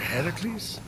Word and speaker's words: Heracles: thing with your voice the heracles yeah that that is how it's supposed to be pronounced seems like a lot